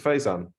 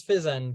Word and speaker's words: Faizan: Do I pronounce it Faizan? Yeah, it's Fizan, but yeah, it doesn't matter.